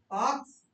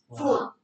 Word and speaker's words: faux: The word is fox. It is faux. It will be pronounced faux.